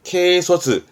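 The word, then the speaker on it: 軽率: 이 한자는 솔자이기도 하고 확률할 때 률자이기도 합니다만 지금은 경솔한 발음은 케소스.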